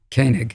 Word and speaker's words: Koenig: How do you pronounce it? Do you say Koenig or Koenig? Koenig.